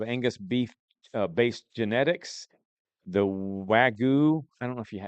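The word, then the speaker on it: Wagyu: The Wagu, I don't know if you It's W A G YU.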